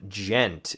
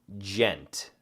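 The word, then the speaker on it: djent: me say before but what do you think Ghent is so it's spelled D j e and T gent what do you think that is the massive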